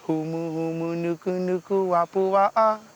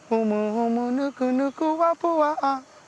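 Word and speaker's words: humuhumunukunukuāpuaʻa: in school like that, so they could actually pronounce it much more better. How does the song go? It goes humu humu nuku nuku apua'a. Humu humu nuku nuku apua'a.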